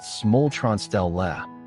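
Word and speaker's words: smultronställe: to sustainable living that concept is smultron stall pronounced smultron Stell which translates to wild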